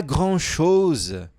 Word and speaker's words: grand-chose: Pas grand-chose, je me détends. Vamos lá, ne t'inquiète. Pas grand-chose, je me détends. Então, ó, pas grand-chose. O problema está aqui, né? Grand-chose. Esse R é uma dor de cabeça.